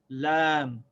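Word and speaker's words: لام: And the name of the letter is lam. And the sound of the letter is just like the L in English, l, l. So the name is Lam and the sound is L.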